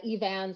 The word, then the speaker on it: Eavan: told me that her irish friend said it's eve ann so i listened to interviews and and uh evan seems to be the the way that she pronounced it and i see her all right